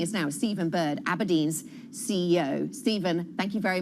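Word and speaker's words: abrdn: Aberdeen is calling itself Aberdeen. That's Aberdeen without, well, any of the E's. It's spelled A-B, well, we'll show you at the bottom of the screen, and then you'll see, there we go, A-B-R-D-N.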